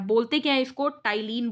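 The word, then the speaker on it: ptyalin: है बोलते क्या इसको टाइल इन बोलते हैं लेकिन लिखते क्या है पीट आयरलैंड ठीक है तो पी को साइलेंट कर दिया गया यहां पर इसको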